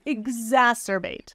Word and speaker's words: exacerbate: a z s z so the only difference is one is the voice combination and one is the unvoiced combination ex exacerbate versus ex ex ex